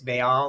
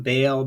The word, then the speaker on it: Baal: You may hear him as Baal. A lot of people call him Baal, Baal, whatever. So there's different ways of pronouncing it.